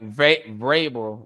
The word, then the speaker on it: Vrabel: Mike Vrabel with a V.